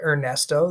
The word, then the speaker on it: Ernesto: The teachers call him Ernesto. They don't call him Ernie. They keep with that Spanish pronunciation.